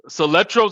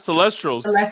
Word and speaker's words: Soletro: He kept messing up on Soletros. His name is Soletro, not Celestros.